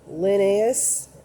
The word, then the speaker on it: Linnaeus: and ramsay biology was rey um lucky to pronounce this last name linnaeus l-i-n-n-a-e-u-s there's men mendo and then pasteur uh